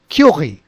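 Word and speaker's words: Curie: take it now so we tell it as curi although it sounds at curi if you if you listen to any pronunciation it will come as curi curi but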